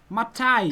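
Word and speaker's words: מָתַי: Matai. continue. Beautiful. Beautiful. You have a nice natural feeling for it. Matai, but in fluent Hebrew it comes out matai.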